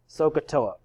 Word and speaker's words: SOHCAHTOA: to know a little phrase that phrase is pronounced sohcahtoa so what are these letters stand for well